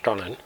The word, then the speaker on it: Stollen: It's pronounced Stollen, and it's the German Christmas bread.